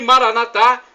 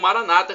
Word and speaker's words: Maranatha: Deus todo-poderoso ele proverá e Maranatha como dizemos nosso católicos ou Maranata como dizem nossos irmãos separados os evangélicos ou protestantes não importa pronúncia somos